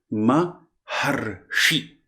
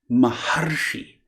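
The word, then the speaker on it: महर्षि: Maharshi. Similarly, Raja and Rishi become Rajarshi. Not Rajarshi, just Rajarshi. So the A and the Ri are replaced by Ar, a short A and half R. Ar.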